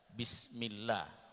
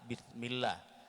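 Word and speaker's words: بسم الله: Contohnya itu membaca bismillah ya, yang seharusnya itu pakai sin artinya dengan nama Allah, tetapi karena kita bacanya dengan ta bismillah, itu yang akhirnya bisa berubah, itu artinya dengan dosa Allah ya.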